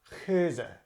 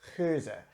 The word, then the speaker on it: Geuze: just pronounce it it's souza the the G letter in Dutch is called hey it's got this guttural sound that's done it's not at the front of the mouth it's in the back with the very back